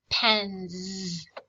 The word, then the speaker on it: pens: This S makes a buzzy sound, and it sounds like this: pens.